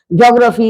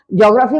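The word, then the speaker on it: geography: Physics से, chemistry, economics, ज्योग्राफी etcetera. अब ये इसको हम ज्योग्राफी बोलते हैं और जियोग्राफी भी बोलते हैं, दोनों है, प्रोनाउंसिएशन सही है।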